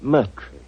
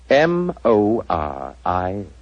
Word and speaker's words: Moriarty: My name is Murtry.